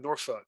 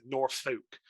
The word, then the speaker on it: Norfolk: processing yeah but um I will say I loved how I think it was maravez pronounced Kip's Hometown Norfolk he pronounced it North Folk yeah so so let's